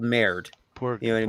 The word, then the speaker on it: merde: It's not murder. It's merde. It ends with an E. Merde. Yeah, merde is he pronounced it like a French person, which I couldn't do. Yeah. But if you have somebody who is like, say, Italian or Portuguese pronouncing it, it will come out merda, because they will throw that extra on there.